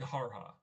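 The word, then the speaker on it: Gehara: How do you spell that? Um, Geer. Uh, oh, sorry. G E H A R H A Garha.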